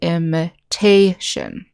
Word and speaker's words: imitation: So like in this word, imitation, the accent is on the syllable that starts with T. So we'll say imitation.